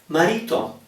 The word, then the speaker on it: marito: uh possibilities or locations r in the middle of a word between vowels is a mild R it's not crazily strong okay for example the word for husband three syllables Mao marito marito marito so I'm